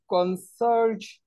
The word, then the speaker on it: concierge: Is it like George, like the sound no. George? Why No, is it it is not pronounced? Like George. It is not like George. It is like George. George. George. George. Like television, jen, jen.